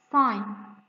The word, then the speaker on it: sign: a side sine sine also letter g here is silent so we are not pronouncing letter g sign look at this beautiful